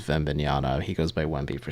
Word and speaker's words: Wembanyama: Chris, the French pronunciation is Wembanyama.